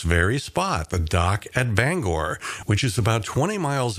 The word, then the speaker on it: Bangor: By the way, if you visit Bangor, be sure not to pronounce it Banger. The locals hate that! Bangor is the correct pronunciation.